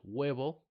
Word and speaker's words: huevo: We have "huevo" (egg), now, "hospital," right? And many more words where the H is silent.